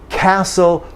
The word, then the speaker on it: castle: There's a few of those, and to put a T there would be strange to your listener. So let's get rid of the T and get the right vowel, and like that. Listen, castle.